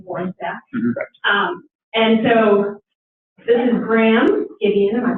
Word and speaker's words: Graham Gideon: And so this is Graham Gideon, am I pronouncing your name correctly?